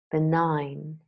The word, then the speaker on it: benign: the Oxford learners dictionaries silent G words nah known Nash benign malign sign design a